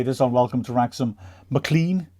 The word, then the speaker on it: McLean: on welcome to rexsom Mclean James McLean not mlan I called it mlan all our season I'm